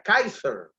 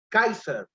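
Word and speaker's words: Caesar: griego que se pronuncia kaiser kaiser césar es una palabra griega que se pronuncia kaiser y se traduce por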